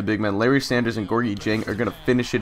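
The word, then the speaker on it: Gorgui Dieng: And Gorgi Jen, I believe I'm pronouncing that right. Actually, I looked up the pronunciation in a couple different sites and I think I've settled on Gorgi Jen, but he slams it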